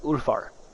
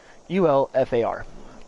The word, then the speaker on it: Ulfar: It is pronounced Ulfar. Okay, and it is spelt U-L, if I can speak, dang, U-L-F-A-R, pronounced Ulfar.